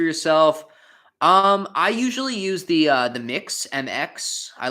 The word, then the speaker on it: Mx: I think it's pronounced mix, so it'd be like mix downy.